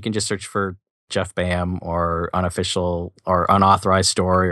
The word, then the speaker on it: Baham: your your name Jeff bam but but it is spelled b a h a m just for listeners to know yeah ba bam it's kind of a Welsh like bam bam yeah my kids at